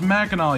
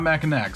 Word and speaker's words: Mackinac: And it's pronounced Mackinac, you uneducated swine, not Mackinac, so say it damn right.